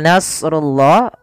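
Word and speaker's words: نَصْرُ اللَّهِ: as di sini Pal Nasrullah huruf shadnya kita baca dengan tebal karena huruf Shad ada salah satu sifatnya baq dan istil yaitu idbaak melekatnya lidah kita dengan langit-langit atas dan istila adalah pangkal kita terangkat maka Nas as Nas tebalkan Tapi nanya tipis jarullahi kemudian padaal rullahi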